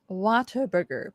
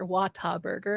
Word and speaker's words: Whataburger: words okay so it's it's spelled Whataburger but as everybody knows it's Whataburger I would say Whataburger wattah Burger I say Whataburger Whataburger Whataburger guys it's